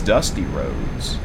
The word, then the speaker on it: Rhodes: His father's name is Dusty Roads. Yep. But it's not spelled R O A Ds. It's spelled R H O D E S. Same pronunciation, different spelling.